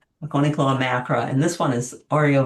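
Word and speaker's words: Hakonechloa: And if you are ever concerned about how to say the name, this is named for Mount Hakonei in Japan. So it's Hakonei Cloa, Hakone Cloa.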